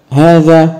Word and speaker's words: هذا: التاء مفتوحه اسماء الاشاره هذا وهذه وهؤلاء وهذا للمفرد المذكر وبها حرف ينطق ولا يكتب هذه للمفرد المؤنثه وللجمع